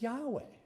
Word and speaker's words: Yahweh: How do you pronounce that? I said, that's Yahweh.